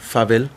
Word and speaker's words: farvel: Again, we spell it differently and we pronounce it slightly different. Farvel. Farvel, yeah. Favel.